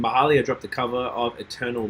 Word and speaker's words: Mahalia: No, didn't you say it's pronounced Mahalia?